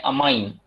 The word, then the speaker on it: ammine: देखो अमोनिया नहीं कहना है, अब कोऑर्डिनेशन कंपाउंड में NH3 को कहना है अमाइन, और H2O को वाटर नहीं कहना है, इट is called as aqua. यहां पर स्पेलिंग भी इंपॉर्टेंट है, AMMINE।